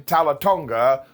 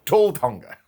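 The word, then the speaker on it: Tala Tonga: And yes, we're calling him Talatonga, or if you want to get your pronunciation wrong, tall Tonga, because he's really tall.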